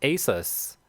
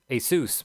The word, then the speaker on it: Asus: gaming company uh they're gonna team up with asus asus my bad that's how you pronounce it actually my monitors here are asus